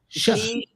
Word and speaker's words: Xi: Z When it I. starts with an X, you say sh. She. Yeah. Jinping. G like she like Xi ch. Jinping. Like sh sound. Like Shush. S-H. Yeah, you'd say it like a sh sound.